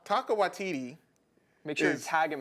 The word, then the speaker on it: Taika Waititi: How do you pronounce it, please? Taika Waititi? Taika Waititi. I wasn't that far off. Taika Waitata? Taika Waititi.